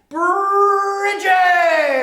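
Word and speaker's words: Brigid: that's the boss but her name is bridgette or breed in the olden days they used to call her breed anyway bridget come here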